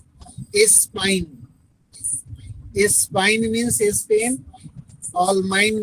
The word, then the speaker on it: Espagne: Germany का spelling ALLEMAGNE, all mine, स्पाइन।